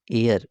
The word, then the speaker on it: heir: और HEIR एयर मिश होता है उत्तराधिकारी। इसे हम एयर प्रोनाउंस करते हैं।